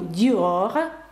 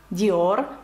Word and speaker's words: Dior: як бунжу ви наразі розумієте що R читається знову ж Tour de France Tour de France марка одягу Dior Dior бачите R F Та